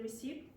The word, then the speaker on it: receipt: I can show you the receipt. Receipt. What's the silent letter? P, exactly, very good.